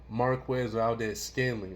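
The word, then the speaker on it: Marquez Valdes-Scantling: And then you see right here, even though we shut this man down, we wasn't prepared for Marquez Valdez Scanley.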